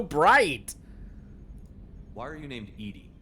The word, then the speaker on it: EDI: Why are you named Edy? Edy is the phonetic pronunciation of EDI. That is an acronym for enhanced defense intelligence.